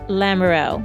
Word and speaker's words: Lamoureux: 1 L _Lamoureux, and that's spelled LAMOUR, like the word hour, EOUR. UX for X-ray, Lamoureux, Michelle_Lamoureux.